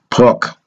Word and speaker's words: Puck: The other one is Puck, like a spelled like a hockey puck.